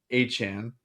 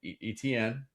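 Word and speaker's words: Etienne: But no, it's it's it's actually Travis Etn who we've pronounced his name that way for his entire career. Uh but it's been wrong. So it's hn. Apparently like the tie e kind of creates like a ch sound.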